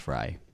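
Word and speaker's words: Frey: I just learned that his last name is pronounced Fry.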